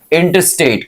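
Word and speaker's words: intestate: इन स्टेट कहने से ज्यादा बेहतर है, यहां पे टी को मैंने साइलेंट करके बोला, इंटरस्टेट। क्या बोलोगे?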